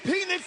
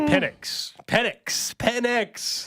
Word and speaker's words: Penix: Big penis energy. He's going to bring that big penis energy. He was trying to say Penix.